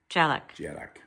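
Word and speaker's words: Dearg: Jarak. Jarrack. I mean Jarrag. Jarrack, like more like a J, but my Gaelic is more kind of town.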